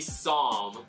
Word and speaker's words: Psalm: It starts with a P, but the P is silent.